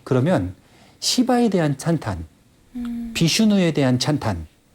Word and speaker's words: 시바: 신이 있고 크리슈나 아니 쉬바나가 아니라 시바 발음을 잘해야겠네.